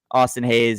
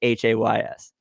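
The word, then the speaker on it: Austin Hays: Orioles fans out there Austin Hayes is Hays uh thank you for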